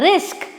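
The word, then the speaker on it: risk: So let's start with this word are आई एस के ये होता है रिस्क।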